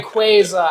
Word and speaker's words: Rayquaza: Rayquaza, as in Quasar.